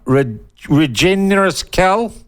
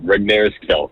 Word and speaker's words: Regnerus-Kell: I've been told several times that I don't pronounce it with enough phlegm in the middle.